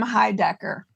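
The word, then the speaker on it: Heidecker: it okay I understand y happy birthday Tim High Decker is that how you say it yes happy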